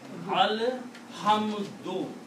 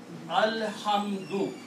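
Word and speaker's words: الحمدُ: Al-Hamdu, with one pesh or one dhamma. Al-Hamdu, pronounce this one.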